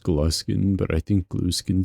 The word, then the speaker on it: Gluskin: Yes, I know it's pronounced gluskin, but I think gluein sounds funnier.